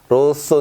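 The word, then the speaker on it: rosso: 소가 아니라 로 쏟아 이 얘기 해요 그쵸 로쏘 는 요 빨강색을 뜻합니다 그리고요 숯의 쏘 숫제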